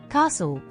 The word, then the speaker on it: castle: moisten soften rule two the letter T is silent in some words especially when it follows an s or as part of the stle e at the end thisle Castle Apostle hustle russle bristle